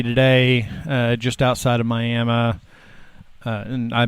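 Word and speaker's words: Miami: in Ottawa County today uh just outside of miam uh and I pronounced it properly there so may M we're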